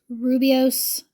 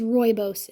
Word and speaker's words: Rooibos: And then there is this Rubios. I think that's Rooibos. I'm trying to remember. I think it was Rooibos is how it's pronounced.